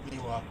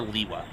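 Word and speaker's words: Lewa: Leewa. Uh, there's multiple ways to pronounce it. I prefer Leewa. How in the hell would I know that the answer to that question? Liwa.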